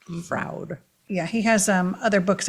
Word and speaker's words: Froud: Froud, I think is how you say it. I'll put it up on the screen. He has big. Like book- proud, but with an F. Froud.